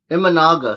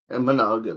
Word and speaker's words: Imanaga: Imanaga. Sorry. Emmanaga. That's how you say it. I got it wrong again.